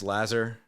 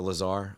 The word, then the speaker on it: Lazar: is is is Max Lazer or Lazar I they pronounce it both ways or Kobe aard going